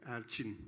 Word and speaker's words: Erçin: With E instead of A, Erçin. Erçin. That's okay. Erçin.